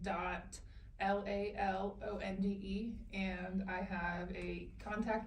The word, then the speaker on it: LaLonde: Lalonde. Lalonde. Yep. Cuz I see that e on the end. I keep forgetting. It's not Lalonde. It's Day. No, the e is silent. It's French.